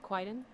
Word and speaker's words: Kwaidan: For those wondering, it's Kwaidan. It's spelled Kwaidan.